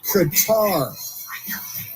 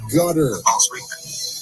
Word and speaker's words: Qatar: In Qatar, which is pronounced Qatar and not gut or gutter, it's Qatar because